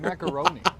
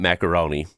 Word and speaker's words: macaron: Macaroni inside. It's a You know, I know you guys will probably say it wrong. It's not macaroni. It's a macaron, right?